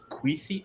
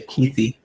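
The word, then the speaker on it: Kuithe: The way you So- pronounce Brant Queethy, I used to say Keithy.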